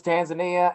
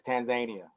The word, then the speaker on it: Tanzania: Tanzania you know what I thought it was Tanzania and everybody says no you're pronouncing it wrong it's Tanzania I was like okay